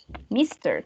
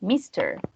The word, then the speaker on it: Mr.: Mr. También como si tuviera dos sílabas. Mr.